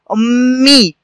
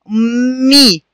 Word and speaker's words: أمي: قلنا صوت ميم ساكنة يليها صوت ميم مكسورة، هكذا أمي أمي.